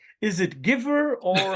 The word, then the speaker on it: Givre: Well, en français, it's Givre. Oh, so similar to Givre. chiffre. Oh, Givre. Yeah, Okay. similar to chiffre, but with a j at the beginning.